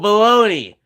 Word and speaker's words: Bologna: See, you could almost get the blow, but why does G and A make an N-E sound? The G is silent, but makes A sound like E? What?